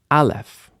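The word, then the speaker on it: א: let's talk about sounds Alf as we know is silent but it often carries a vowel so that that we can hear the vowel sound bets makes a b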